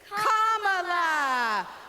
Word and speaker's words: Kamala: First, you say comma like a comma in a sentence. Then you say la like la la la la la. Put it together, and it's 1, 2, 3, Kamala.